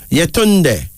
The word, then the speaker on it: Yetunde: Then there's Zarina, Z-A-R-I-N-A, pronounced Zarina, a Swahili female name meaning golden. Yetunde, Y-E-T-U-N-D-E, Yetunde, a Yoruba of Nigeria female name meaning mother comes back.